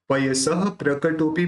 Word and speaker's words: पयसः प्रकटोपि: पयस प्रकटोपी बोलो, लेकिन जब आप प्रोनाउंस यह उसका आधा आधा प के साथ जोड़ोगे तो वहां पे एक पॉज बनता है, और उस पॉज से पता चलता है कि उस संयुक्त अक्षर का प्रोनाउंस हुआ है। देखिए कल्पांत वांत पयसः प्रकटोपि यस्म, और सिंपल निकलेगा तो कल्पांत वांत पयसः प्रकटो, पयसः प्रकटो और पयसः प्रकटो, ये फर्क बढ़ता है और यही होना चाहिए, तो ही उस संयुक्त